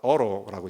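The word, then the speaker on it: Otto: 영화의 주인공은 오토, 그 사람 발음을 어로라고 얘기합니다.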